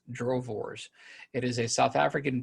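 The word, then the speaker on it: droëwors: our drove wars it's spelled d-r-o-e-w-o-r-s but it's pronounced drovors it is a south african beef stick my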